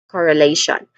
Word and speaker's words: correlation: We have four distinct sounds here starting with core again core and then followed by a schwa sound of a weak and stressed e vowel sound. So uh e mean e followed by lei which is the stressed syllable here.